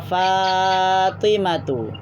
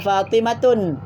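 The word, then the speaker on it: فاطمةُ: Fatimatu. Fatimatu. Jadi tidak boleh baca Fatimatun. Baca Fatimatu atau Khadijatu.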